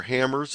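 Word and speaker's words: HamRS: There's some specialty log programs such as Ham RS, or Hammers as it's pronounced.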